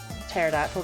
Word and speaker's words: Pterodactyl: Pterodactyl with a silent pee.